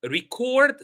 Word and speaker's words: record: You can see here it's the verb record. So record, the stress is on the second syllable, and that's why they have put a little apostrophe before cord.